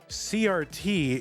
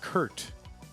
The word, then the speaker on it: CRT: we ended up with the universal pronunciation of CRT as CRT instead of Kurt that's like the least